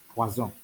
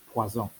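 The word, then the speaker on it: poisson: poison in the holy spirit but it's actually pronounced as poison poison orange is orange or the plural which would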